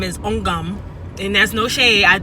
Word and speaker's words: Ogum: I think her real name is Ogum, and that's no shade. It's spelled O-G-U-M, Ogum.